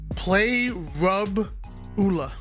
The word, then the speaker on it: Parabola: It's parabola, not parabola. It's parabola. All It's right. parabola. We're gonna throw it to Why Not. We're gonna get the official pronunciation of parabola. Play rub ula.